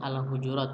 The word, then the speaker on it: Al-Hujurat: Ini bacanya Al-Hujurat.